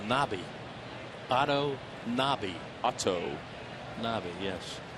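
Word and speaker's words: Knabe: We found out that that second baseman's name is pronounced Nobby.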